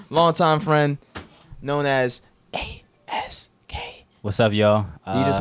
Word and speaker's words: ASK: no lie but I I say ask because that's this is my stage name so ask ask like an 8K so you just gotta